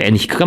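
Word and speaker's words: Henrique: 그래서 포르투갈의 항해자 엔리크라고도 하고요. 발음이 그죠? 엔히크가 맞죠? 원래 발음은 엔히크 왕자와 바스코 다가마는 아프리카 해안을 탐사하고 그 과정에서 섬과 항구의 지배권을 강탈했다.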